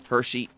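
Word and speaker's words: Hexi: Yeah, I'm still pretty early in uh Hershey. That's the other thing, too, about the uh name of this area. It's It's spelled H E Xi, but it's pronounced Hershey, like the Hershey kisses.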